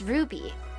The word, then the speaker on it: RWBY: would say rwby and matt told me it's pronounced ruby so i looked it up and yeah i